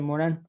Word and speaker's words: Morin: Entonces yo creo que sus 6 tomos de método de se escribe Morin, pero se pronuncia Morán, es francés.